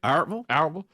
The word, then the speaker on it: Albertville: Albertville.